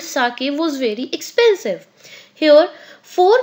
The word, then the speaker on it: sake: Here you might have noticed this is not sake, this is sake. Sa is pronounced like fa in father and k rhymes with way. So this is sake, not sake.